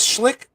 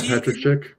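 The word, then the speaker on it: Patrik Schick: I know is Schlick. Schlick that's how you say his name? The striker. Yeah. Patrick Schick.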